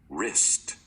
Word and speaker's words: wrist: The letter W in front of the R is silent, the letter K in